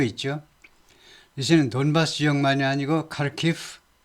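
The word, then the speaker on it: Kharkiv: 그다음에는 제 2의 도시가 카르키프 카르키프 이제 우리 우리나라에서는로 하르키 이렇게 하는데 아마 우크라이나 언어로는 하르 키라고 발음 하는가 봐요 근데 영어에서는 카르키프 발음하죠 제 2에서도 이쪽에서도 전투가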